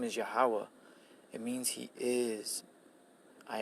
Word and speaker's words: Yahweh: His name is Yahweh.